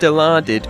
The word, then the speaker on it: Dilaudid: Now, it's based on the real-life drug with the brand name Dilaudid. Now, it's pronounced Dilaudid, but when you look at the word, your first attempt would probably be deluded.